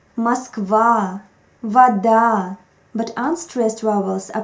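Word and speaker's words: вода: there is just tendency stressed vowels are always pronounced clearly muskvar vada but unstressed vowels are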